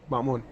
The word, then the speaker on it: Mamoon: Is that how you pronounce it? Oh yeah, Mamoon.